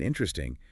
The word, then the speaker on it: interesting: In interesting, that second weak vowel just gets elided. So instead of 4 syllables, it becomes 3.